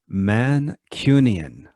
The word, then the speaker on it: Mancunian: called the mancunian okay pronounce that slower for our listeners mancunian yes like a mannequin uh you could say